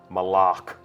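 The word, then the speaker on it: Malok: Malak. Right. Official pronunciation confirmed. So Malak. if you hear anybody saying Malak, send them right here to the archive of this stream. Our design lead has told us it's Malak.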